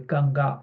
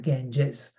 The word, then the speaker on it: Ganga: are Ganges and yamuna not the geni is a mispronunciation by the by the Brits because the original name in Sanskrit and Hindi literature will be ganga g n g a not GES okay and yamuna which